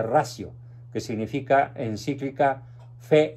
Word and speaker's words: ratio: y razón o encíclica fides et ratio conte se pronuncia radio que significa encíclica fe